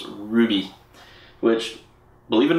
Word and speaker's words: RWBY: Bebop and Ruby and that's spelled RWBY but it's Ruby which Believe It or